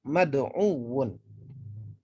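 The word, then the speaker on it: مَدْعُوٌّ: Oke, untuk nakis teman-teman, tatkala dia dalam keadaan menjadi isim maf'ul, maka huruf terakhirnya itu diberikan tasydid menjadi mad'uwun. Mad'uwun. Huruf sebelum terakhirnya berharokat dhammah.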